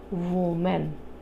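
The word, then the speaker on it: women: जैसे मान लीजिए वुमेन। हां। अब जब वुमेन को हम प्लुरल में चेंज करेंगे, टू वुमेन का मेनी बनाएंगे तो वो क्या हो जाएगा? वीमेन।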